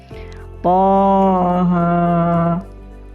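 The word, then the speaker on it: طه: Cara membacanya Thaha, Thaha.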